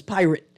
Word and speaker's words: Pyrt: event he's calling pyrt which I am now going to pronounce his pirate because pyrt that's yeah right and